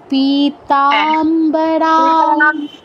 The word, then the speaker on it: পীতাম্বরা: আছে বলুন পীতাম্বান বলুন পিতাম্বান না তাতে দীর্ঘ হবে আর রাং রা পীতাম্বরা কানক ভূষণ মালশোভাকভূষণ মালশোভাকভ